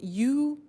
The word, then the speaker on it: used: Now, this verb used to, well, it's written U-S-E-D, but the pronunciation is used, and we'll see that on the screen later.